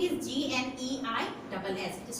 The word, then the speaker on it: gneiss: Now, gneiss means the spelling is Gneiss. It is pronounced as gneiss.